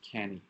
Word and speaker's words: Cannae: Do we remember the first Cannae? The Great Film Festival Wars. I'm talking the Cannes Film Festival, David. wrong pronunciation.